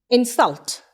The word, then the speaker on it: insult: insult is a noun it is an insult i'm stressing an in insult he insulted me sull it is a verb i stressed on the syllable cell so insult has two syllable in and self insulted has three syllables in salted so in the first one i say raj this is an insult i stressed on in when i said raj